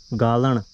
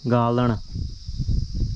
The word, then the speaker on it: गालण: गालण मुझे नहीं लगता कि आप इसका सही से उच्चारण कर पाएंगे, यदि आप पहाड़ी पृष्ठभूमि से होंगे तो आप इसका उच्चारण सही से कर पाएंगे गालण। और यदि आप हिंदी में बोलेंगे ना इसे, तो फिर आप इसको लिखेंगे गालण। गालण और गालण में अंतर आ जाता है।